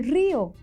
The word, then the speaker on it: río: No es lo mismo que yo diga, el bebé se rió con su mamá, a que yo diga, yo me río de sus bromas. ¿Cierto? Cambia de significado por la acentuación.